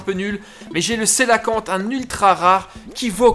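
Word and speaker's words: cœlacanthe: je l'aï enfin alors comment ça se prononce que là quand non le super tu sais que ça se prononce coelacanthe ah bah non je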